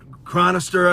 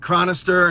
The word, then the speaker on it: Chronister: Office the sheriff uh Chad cron chronister I believe is how you pronounced his name Chad chronister and his cohort with